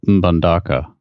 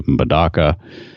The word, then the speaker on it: Mbandaka: So this is in Mbandaka, which is Mbandaka, M-B-A-N. I think that's how it's pronounced. You pronounce the M? I think so. I think you just say Mdaka.